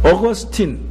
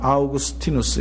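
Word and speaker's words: Augustine: 꼭 읽어봐야 될 내용입니다 어거스틴 영어로 발음은 어거스틴 있니다 그러나 이태리 발음으로는 아우구스티누스 있니다 우리가 흔히 이제 미국에 살고 있기 때문에 어거스틴 어거스틴 이렇게 여러분 귀에 익었을 것입니다 그의 어머니는 모니카 아이가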